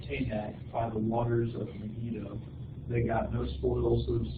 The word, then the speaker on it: Megiddo: How do you say that word? Megiddo.